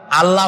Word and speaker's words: আল্লাহ: আল্লাহর নাম আল্লাহ বলেন তো আল্লাহ নয় কিন্তু আল্লাহ হচ্ছে অশুদ্ধ শুদ্ধ হচ্ছে আল্লাহ বলার সময় মুখটা গোল হয়ে যাবে বলেন তো সবাই উচ্চারণ করেন আল্লাহ আবার বলেন আল্লাহ আবার বলেন